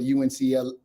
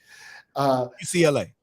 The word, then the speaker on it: UCLA: had to go to UNCLA. I might be saying it wrong. The university in LA. UCLA.